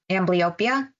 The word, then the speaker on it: Amblyopia: Amblyopia.